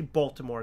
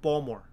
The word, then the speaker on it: Baltimore: People from Baltimore, they don't say Baltimore. They say Baltimore. Baltimore, hon. That's how they say it. So if I'm missing the T, I might even sound like I'm saying Baltimore with a D in it.